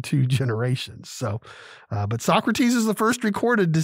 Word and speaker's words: Socrates: from a guy named socrates actually socrates but if you are a fan of bill and ted's excellent adventure like i am they pronounced it so crates but um socrates moaned